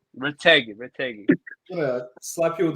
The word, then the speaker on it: Retegui: Ritogi, there you go. Retegui. Retegui.